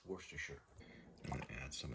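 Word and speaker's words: Worcestershire: It's actually pronounced worsture if you want to know. Worstershure is how they say it. Some say worshshire, but it's worsture.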